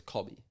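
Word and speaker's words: Kobbie: who you thinking long surely you would call yourself Kobe but it's not spelled like Kobe is it k o b IE no what is it k o b i e oh so it's cobby double b you can't do a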